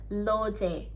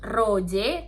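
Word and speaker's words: 로제: Tapi ketika dia ditulis dalam bahasa Korea atau ditulis dalam Hangul, itu pelafalannya bukan Rose lagi, tapi jadi Loje. Jadi bukan Roje, tapi Loje. Tetap L.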